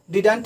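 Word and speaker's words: didn't: क्योंकि डिड plus not is equal to डिडंट ही बोल सकते हैं, डिड नॉट ही बोलेंगे, डिन भी बोलेंगे, क्योंकि DIN और वहाँ पर जो है सो साइलेंट T हो जाता है, इसलिए इसको हम डिन के भी नाम से जानेंगे।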